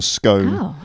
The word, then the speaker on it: scone: to the death over whether it should be pronounced scone or scone okay um scone or